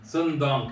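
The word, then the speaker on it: Son Doong: Sun Dong Cave. I'm sorry. Exactly. Yeah. Well done. You pronounce it perfectly.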